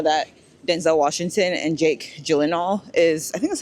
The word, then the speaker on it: Gyllenhaal: you would know that Denzel Washington and Jake Gyllenhaal I think that's how you say his name, Gyllenhaal, are in the show.